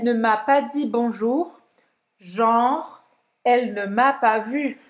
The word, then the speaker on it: genre: Genre, genre, gênero, genre. Agora vou dar um Genre. exemplo para você entender melhor. Presta atenção na pronúncia, tá, gente? Você não vai pronunciar esse E no final.